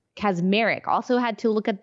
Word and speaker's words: Kacsmaryk: Okay, so there was a judge, a Trump-appointed judge, and his name is Matthew Kacsmaryk. Kacsmaryk. Also had to look at the pronunciation of that last name to make sure I had it correct.